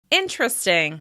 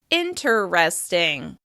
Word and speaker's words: interesting: When you look at this word, you probably expect it to have 4 syllables. Interesting. However, because we say this word so often, we actually drop one of those syllables. Instead of saying interesting, we say interesting. Interesting. As you can hear, there are only 3 syllables in this word.